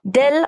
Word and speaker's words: del: This is uh read as or it is pronounced as or said as dell or nabla.